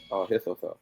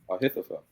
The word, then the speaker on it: Ahithophel: How do you go about pronouncing it? Ahithophel. Ahithophel.